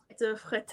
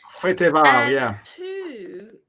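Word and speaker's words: Fréteval: One of them famously, de Fretal, I don't know if I've actually pronounced that correctly. Freteval, Freteval.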